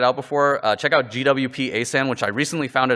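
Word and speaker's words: GWP-ASan: not checked it out before uh check out gwp asan which I recently found it is actually properly pronounced uh very Stewie from Family Guy style it's actually GP asan um but it's a lightweight memory sanitizer and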